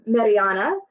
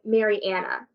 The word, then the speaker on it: Mariana: is a microaggression so instead of saying um Mariana they say Marianna you know making it